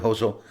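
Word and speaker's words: hózhó: Hoso.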